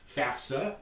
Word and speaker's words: FAFSA: And it's pronounced FAFSA, and we would put this in phonetic script in this way.